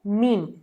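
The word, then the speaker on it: meme: है और वो है मीम, मीम। तो आप इसे में ना पढ़ें, स्पेलिंग ज़रूर वैसी है, पर इसे पढ़ें मीम, मीम।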